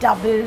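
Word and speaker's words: Double: मी the order for दुबले का Mithapur do you want I was like दुबले का मीठा आई मैम वो डबल है it's pronounce डबल ma'am I नॉट दुबले वेयर आर यू फ्रॉम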